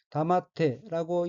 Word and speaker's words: 黙って: 넷째 줄 첫 번째 오인는 한자가 말없을 묵자이고 일본어로는 다마테라고 읽으며 다마테는 말을 하지 않다.